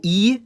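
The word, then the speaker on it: И: It's called E and it sounds like E or I.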